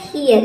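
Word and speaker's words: hear: Eight क्या हो जाएगा ह और ई ए का हो जाएगा ई अ, आर का हो जाएगा आधा र, ये हो जाएगा हियर।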